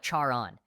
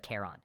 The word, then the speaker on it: Charon: Sharon, I said it like Charon instead of Kon.